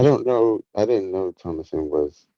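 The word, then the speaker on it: Thomasin: It's Oh, it's Thomason. Thomason. It is Thomason.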